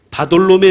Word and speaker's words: 바돌로매: 동일한 인물로 우리는 추측합니다 바돌로매 는 이름이 아니에요 다 끊고 돌로 메 라고 읽으셔야 됩니다 돌로 메 아들이 란